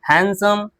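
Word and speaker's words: handsome: Bridge क्या पढ़ते हैं ब्रिज डी पढ़े क्या ब्रिज यहां पे ड कहां लिखा है नहीं ना ब्रिज क्या पढ़ते हैं ब्रिज बात समझ में आई तो ब्रिज, सैंडविच, वेडनेसडे, हैंडसम। बात समझ में आ गई? यहां पे क्या होता है? डी साइलेंट होता है।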